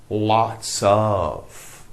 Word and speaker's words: lots of: lots of which means lots of but we don't pronounce the F I have lots of good friends I have